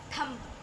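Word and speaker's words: thumb: video अब है आपका थंब थंब नहीं इसको आप बोलते हैं थंब थंब बी का बी का जो बी वर्ड है वो आपका साइलेंट होता है तो आप थंब बोलते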